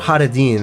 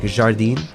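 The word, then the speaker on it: Jardin: It's not Jardín, right? I realize like Jardín is a Spanish thing. You guys actually pronounce the J, right? Like Jacques, it's like Jardín.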